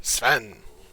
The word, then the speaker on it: Sven: I think it's Sven. Sven. Sven! That's what it is. Sven.